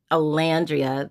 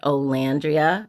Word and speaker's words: Olandria: the hardcore Alandria Alandria somebody told me don't say Olan and it's really hard for me because I've called her Alandria the whole time. But Olandria, I've even had to redo posts to say her name properly.